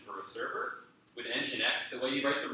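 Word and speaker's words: nginx: it actually my first off thank you for pronouncing keep telling difference sure um I'll engineers you're good question so language yeah engine X is what's goin acts as much so Apaches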